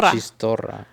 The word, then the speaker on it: chistorra: Chistarro, because you don't pronounce this. Chistarro. It was Chistorra. It was chistorra. No, but it's chitorra. No, we don't pronounce the S at the end.